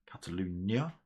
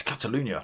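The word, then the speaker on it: Catalunya: be back for the next round of this Cataluna, I believe. Cataloonia, let me say it right. Uh yes, Catalunia next week followed by Spar followed by a Nurburg Ring GP.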